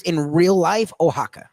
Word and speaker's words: Oaxaca: Okay, so the word that's spelled that way is actually pronounced in real life Oaxaca. Oaxaca.